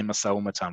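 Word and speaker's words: משא ומתן: look like that okay we don't pronounce this as a single word but we just say masawamatan when you see this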